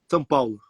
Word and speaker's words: São Paulo: I would want to say, okay, I say Sao Paulo, but what is the right pronunciation? São Paulo, São Paulo.